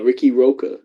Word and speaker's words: Riqui Roqua: Uh, Ricky Roka. I kept my last name. And I was like, I want to spell it different though cuz like there's Ricky Starks.